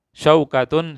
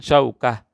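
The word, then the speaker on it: شوكة: Kalau yang tertutup seperti ini, maka kita bacanya ha kalau berhenti. Ya, saya contohkan. Jaddatun jaddah, syaukatun syaukah, ibnatun ibnah. Nah, tadi tidak ada taknya, sekarang ada taknya.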